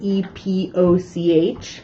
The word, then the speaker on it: epoch: time that's called an epoch. So that word E-P-O-C-H is pronounced epoch. I tell students it kind of rhymes with Tupac if you're trying to remember how to say it.